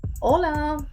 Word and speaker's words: hola: But in Catalan H it's always always silent. Hola.